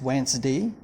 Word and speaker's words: Wednesday: Today is Wednesday. It is pronounced as Wednesday, not Wednesday, but Wednesday. Okay, Wednesday, 1st of July 2020.